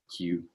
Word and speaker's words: queue: This is the only word in English in which you only pronounce the first letter. Q.